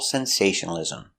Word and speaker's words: sensationalism: That's right, there's an extra syllable there. Ism. Not ism.